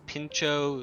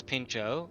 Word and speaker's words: pintxo: my cat's name is pincho which is uh in there's a place in Spain where they speak Basque a different language and the TX is pronounced as a CH and it's a type